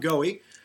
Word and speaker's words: Goewey: Well, we've been speaking with Goewey. Now, am I pronouncing your last name right? Yep. Goewey, author of Mystic Cool.